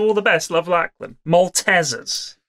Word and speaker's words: Maltesers: shatter the glass but you're all pronouncing maltesers wrong it's not maltesers it's maltesers what Mrs was a